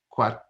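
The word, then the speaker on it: Quattrone: an associate dean and executive director of the quack is that how you pronounce it that's it perfect yes for the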